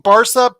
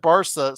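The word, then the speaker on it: Barça: said it was Barka but you said Barca so I wanted to respect you and say Barca yeah well I mean for us we say Barcelona so you know Barca yeah but I think Americans say Barka that's fine I'm when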